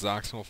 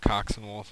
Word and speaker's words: Xoxinwulf: even mean uh yeah it's pronounced Z wolf not coxen wolf like some people think it is the X's are sound sound like Z's and Z wolf is